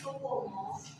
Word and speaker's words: Soepomo: Soepomo, tulisannya Soepomo, dibacanya Soepomo, dan yang ketiga Insinyur Soekarno, Ir.